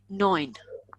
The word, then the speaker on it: neun: Listen, it's not neun, it's neun. EU is oi, neun.